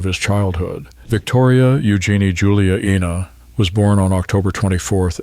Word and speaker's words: Ena: Within the family, she was known by the Spanish pronunciation of her fourth name, Ena.